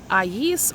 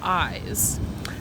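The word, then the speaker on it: Ais: fiercest early Florida tribes I believe the original tribe pronunciation is AES or eyes they consisted of several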